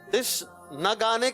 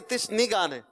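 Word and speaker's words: تشنگان: तिश न गाने के तिश नी गाने, न गाने। सोच लें। नून पे क्या है? नून पे जबर है, तिश न गाने, दीद यानी दीद के प्यासे, दुरुस्त। तिश नी गाने गलत है, तिश नी गाने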